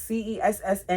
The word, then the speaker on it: Cessna: How do you pronounce CE SS na?